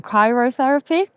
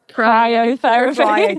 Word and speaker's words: cryotherapy: We have I always say it wrong, chairotherapy. Cryotherapy. Cryotherapy. Cryotherapy.